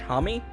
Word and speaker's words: Homme: this one is performed by his name is pronounced Josh Homme II from Queens of the Stone Age so that's